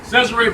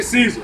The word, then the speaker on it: Cesare: Cesare Borgia, or you can say Caesar. However, some people pronounce it different.